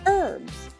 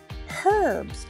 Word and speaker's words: herbs: a little bit tricky in American English the H is silent on the word herbs in lots of other countries you pronounce the h herbs herbs a person who inherits